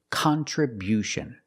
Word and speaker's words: contribution: We change the stress to the first and third syllable. Contribution. contribution. The first and third syllable. Stress the first and third syllable. Contribution. And because we stress the first syllable, the sound changes. It's not con. It's not the short sound. It's con. Con. We use a short a sound like hot and stop.